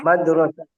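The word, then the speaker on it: مدرسة: Sebelum ta marbutah. sinnya dibaca fathah, kasrah apa domah? Fathah. Oke, bagus ya.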